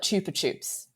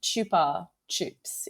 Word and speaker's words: Chupa Chups: so in fact in Spain they call it Chupa Chups chup this yeah chup that so I'm going to keep calling it Chupa Chups but Chupa Chups is the actual correct pronunciation I was thinking